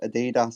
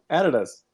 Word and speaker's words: adidas: totally thank you and now we know that it is adidas so we're both right there stefan and obviously we've said it wrong editors oh no you've you've